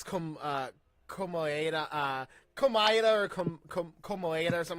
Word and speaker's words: Komaeda: I just can't pronounce it. It's hard to say. Oh, it's Komaeda. There you go, Komaeda.